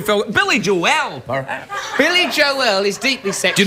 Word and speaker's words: Joel: Billy Joel is deeply sexual. Do you notice how I said Joel? It was that extra syllable I said Billy Joel.